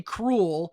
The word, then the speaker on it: Kreul: C and the OO, now it's actually cruel, but it's spelled with a K. So it's KREUL.